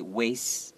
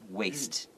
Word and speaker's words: waste: teeth out will say waste associated with sometimes you'll hear that but then the the proper way is with the T sound waste okay so more than